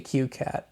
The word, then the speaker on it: CueCat: I call the qat now the actual spelling is well it's two ways it's either colon CU c a t or colon cue Colon c a t but I don't know how to pronounce a colon so we'll just call it the qat shall we anyway uh